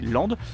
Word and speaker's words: Lempdes: On est à Lande. Ça s'écrit Lampedes, mais ça se dit Lande.